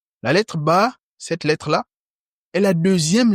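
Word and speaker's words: باء: Le dernier point qu'il faut savoir, c'est que la lettre Ba, cette lettre-là, je vous ai dit lorsqu'il y a le chapeau, on tire légèrement. La lettre Ba, cette lettre-là, est la deuxième lettre de l'alphabet arabe.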